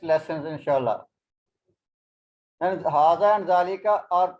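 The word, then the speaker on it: ذلك: Zalika, we don't write alif, but we read the alif like this.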